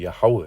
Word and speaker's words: Yahweh: So going back, that's how you truly pronounce the name of the Lord, Yahweh.